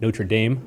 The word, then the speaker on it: Notre Dame: at the university of notre dame notre dame i should say and he has a new book yeah the french pronunciation there he's a new